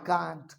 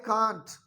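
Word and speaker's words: can't: कांट। क्या हो जाएगा? क्या हो जाएगा? कांट के दो प्रोनाउंसिएशन होते हैं, एक अमेरिकन होता है, एक ब्रिटिश होता है। Britishers they call it कांट, but Americans they call it कैंट।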